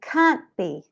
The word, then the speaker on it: can't be: And can't be. Can't be. We link them together, and you don't hear the T.